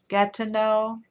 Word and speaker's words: Gatineau: Very hot here in, how do you pronounce that? Gatineau.